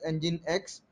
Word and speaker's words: Nginx: used so what is engine x so again engine x is uh again it can be pronounced as engine x it is an open